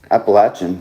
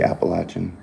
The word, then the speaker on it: Appalachian: yeah oh my goodness that's appalachian appalachian you gotta say appalachian if you're from the south i used to say